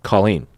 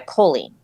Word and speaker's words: Colleen: Well, the history is apparently, so my name is spelled with 2 L's and 2 E's. So it's pretty phonetic and, 2 syllables.